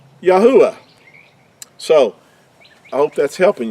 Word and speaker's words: Yahuah: it gives us yahoo first three letters and the last letter would give us the yahoo i would be how the creator's name is pronounced now this is a